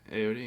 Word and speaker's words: Ayoade: But Ralph Fiennes, Richard Ayoade, is that how you say his name? Yeah, Ayoade. Yeah.